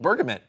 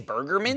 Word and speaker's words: bergamot: Bergamot. What is You're saying burgermint?